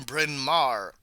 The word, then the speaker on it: Bryn Mawr: She graduated from, dear lord, I have to look up how to pronounce that. Okay, she graduated from Bryn Mawr.